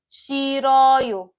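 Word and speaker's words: 싫어요: But in pronunciation, you can tell that the H doesn't do much. It's shiroyo, shiroyo.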